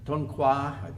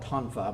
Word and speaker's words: Tonfa: The Tonfa, there are several Okinawan dialects, so I've heard it pronounced Tonfa, Toifa. We're going to call it Tonfa because that's what practically everybody uses.